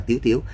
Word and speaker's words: Tiếu Tiếu: Thành ra là át mê đọc là Tiếu Tiếu. Có nhiều bạn bảo sao bây giờ Tiêu Tiêu thành Tiếu Tiếu, nó là như vậy.